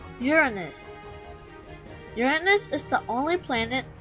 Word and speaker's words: Uranus: Many people pronounce this planet as Uranus, but for the actual scientific name, it is pronounced as Uranus.